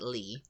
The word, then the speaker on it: Leigh: i g h that's how you're going to pronounce it Lee right yeah how would you pronounce it it's